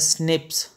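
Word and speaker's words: SNPs: तो इसको हम बोलते हैं single nucleotide polymorphism pronounced as स्निप्स।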